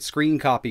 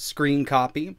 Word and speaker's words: scrcpy: it's time to get screen copy installed as you can see it's spelled scr c-p-y but it's pronounced screen copy right here over on